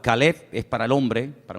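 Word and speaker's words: כָּלֵב: Para diferenciar el nombre del perro se pronuncia diferente, pero se escribe igual. Caleb es para el hombre, para un hombre propio.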